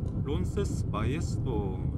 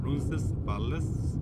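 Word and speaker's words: Roncesvalles: 론세스 바이에스도 스펠상으로 하면 영어식으로 하면 론세스 발레스 이런 형태로 읽어야 되는데 스페인식 발음에는 L자 자체가 이제 LLES 그죠? Yes 뭐 이런 형태로 이제 발음이 되나 봅니다. 그래서 이제 론세스 발레스가 아니라 론세스 바이에스 예.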